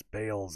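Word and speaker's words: Baal's: just like Bales above I know people say Beals above but it's Bales above all you got to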